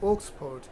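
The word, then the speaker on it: Oxford: অক্সফোর্ড, Cambridge, ওক্সফোর্ড, উচ্চারণটা কী হবে? ওক্সফোর্ড, Cambridge, Longman, এই ডিকশনারি অনুসরণ করতে হবে।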